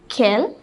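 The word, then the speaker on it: quel: okay we use either Kell so these are four interrogative adjectives we use all the four have the same meaning it means what or which it is all pronounced the sin kill and Kel it is all pronounced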